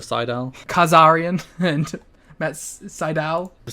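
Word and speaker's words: Sydal: up and Mike today pronounces it as sidel instead of Seidel Kazarian and Matt Seidel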